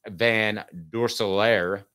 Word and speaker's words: Van Dorsalaire: Jack Van Dorsalaire, did I pronounce that correctly, the tight end? I think I did. You did.